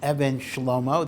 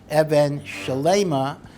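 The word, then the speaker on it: אבן שלמה: So don't pronounce it Even Shlomo, that's a mistake, even though the remez is Shlomo Zalman, but it's Even Shelaima, based on the pasuk in Ki Seitzei.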